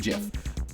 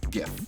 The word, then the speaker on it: GIF: One, the people who made it, they said that it should be pronounced GIF. But it stands for Graphics Interchange Format. Graphics. GIF.